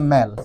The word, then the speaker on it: mal: দেখো, MAL যুক্ত করে, এটা আবার তুমি ভাইবো না এটা মাল, এটা কিন্তু মাল না, এটা উচ্চারণটা এভাবে করবে ম্যাল। ঠিক আছে, যেমন ফাংশন, মেল ফাংশন, এইভাবে বলবা না যে মাল ফাংশন।